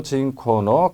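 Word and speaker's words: 人口: 라고 발음합니다 다음이 뒷부분에 인구 라는 단어도 실제 시험의 발음 제로 났던 단어죠 징코 라고 발음합니다 잘해서 이 나라에 사는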